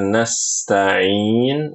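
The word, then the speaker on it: نستعين: Lalu pada kata nastain nanti ibu-ibu perhatikan huruf sin itu harus mengalir jangan diputus. Iyyaka na'budu wa iyaka nasta'in. Nasta'in jangan, harus dialirkan.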